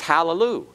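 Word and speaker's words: הַלְלוּיָהּ: speaking Hebrew all right and this is hallelujah it's a vocal schwa it's vocal because it is a schwa preceding it's under a consonant that is followed by The Identical constant all right and that's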